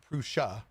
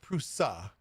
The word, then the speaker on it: Prusa: Next up, we have Prusa in the news, and I found out that I actually pronounced it wrong. It's not Prusa, it's Prusa.